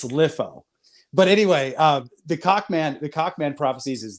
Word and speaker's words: LIFO: we got and it's it's pronounced you know and I know it's such a weird name name lifo people would call this lifo there's no real good way to tell somebody how it's pronounced we called it litho it's litho but anyway uh the